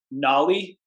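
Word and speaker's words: Nauli: it before, and I'm going to botch the pronunciation of this. I'm only assuming. Go for it. Nolly?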